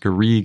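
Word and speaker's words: garrigue: And it's pronounced Garrig in French or Garriga in Occitan.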